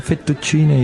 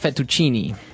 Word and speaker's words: fettuccine: What about fettuccine? Fettuccine. Oh, it's fettuccine. Fettuccine. In American, we say fettuccine.